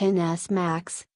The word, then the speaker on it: XS Max: the iPhone XS max pronounced NS max is the biggest smartphone Apple has ever made